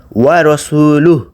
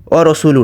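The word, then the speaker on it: وَرَسُولُهُ: ওয়া রাসূলুহু, ওয়া রাসূলুহু, ও রসুলু না।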